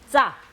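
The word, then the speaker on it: ཙ: 여기 보면 이빨 뒤에 붙었다가 바람 새는 소리가 나면서 떨어지면서 짜, 짜, 짜, 짜.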